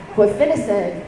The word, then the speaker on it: guaifenesin: Guaifenesin.